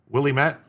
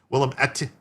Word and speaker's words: Willamette: Willie met? What did Willie meet? The state Republican Party argues that federal law prevails over the Mississippi law. Emphasis on the second syllable. Willamette.